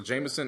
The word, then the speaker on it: JMSN: there go that's another one where is this Jameson person from Detroit Detroit Detroit he's a white boy jmsn that's how you spell it J MSN yes um so those are